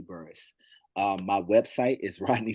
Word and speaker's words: Burris: same across the web it is Rodney C burus burus is spelled bu r r i s so patience